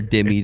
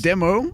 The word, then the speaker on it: Demo: Is it demo? Yes, it's dude. Okay, all right. Well, here we are. You learn something new every day. Please comment about how he pronounces it demi.